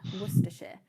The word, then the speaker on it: Worcestershire: lot but so people this is the right pronunciation of the previous award you remember but it should be yeah worcester worcestershire um and that brings me on to my